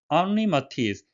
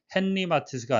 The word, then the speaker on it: Henri Matisse: 앙리 마티스, 헨리 마티스가 아니라 브로식 발음으로 앙리 마티스가 되겠는데요.